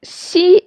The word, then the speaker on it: xi: And xi is somewhere between s and sh in English. Make sure your lips are spread wide when you say xi, and the middle part of your tongue is pressed up against your hard palate.